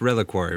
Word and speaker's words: Reliquary: card out loud and um uh the the pronunciation and i i i said it really really tower reliquary um but it's reliquary right yeah yeah but this is a great